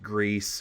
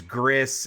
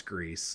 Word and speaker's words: Gris: the music for Greece which I Learned was pronounced Greece when I was looking up how to actually pronounce Neva I thought it was Gris and they specifically were like no it's Greece like saying the the word Greece um but